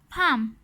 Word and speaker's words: palm: Talk, walk, half, calm, palm. The letter L is silent in these words.